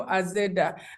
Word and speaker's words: Azeda: being raised they named they pronounced it in the language like the western language kinyang which is so I became a zeda like that but it was very